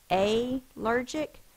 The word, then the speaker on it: allergic: It would be short, but because it's an unaccented syllable, it is the schwa, but the L still has to be there so that we know that that's not a long A sound.